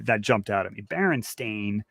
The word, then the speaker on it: Berenstain: jumped out of me Baron stain not Bernstein so that comes up